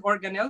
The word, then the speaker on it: organelle: organelle so the word organelle may be familiar to some of you so it sounds like the word organ right okay so it's organ with a little bit at the end so organelle it just means organ-like